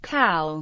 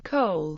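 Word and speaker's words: כל: For example, when unhyphenated, is pronounced kal rather than kol, and is pronounced Zahoraim rather than Sahoraim.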